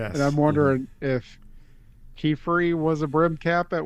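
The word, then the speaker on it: Qifrey: Um Kefrey Kefrey there was a scene where you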